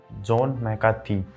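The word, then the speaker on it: John McCarthy: इसका उच्चारण सुनने में अटपटा लग रहा होगा, लेकिन इसकी सही प्रोनाउंसिएशन यही है, जॉन मैकार्थी।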